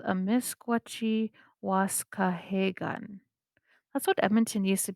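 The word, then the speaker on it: amiskwacîwâskahikan: called what you see on your screen it's pronounced a misgucci wasca hagan beaver hill house that's what it translates to so it's called a misquachi wasca hey gun that's what edmonton used to be called in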